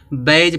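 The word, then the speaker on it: badge: कि नहीं आया जब जी से पहले डी आएगा तो डी क्या होगा साइलेंट हो इसको बैज पढ़ते हैं बैज माने बिल्ला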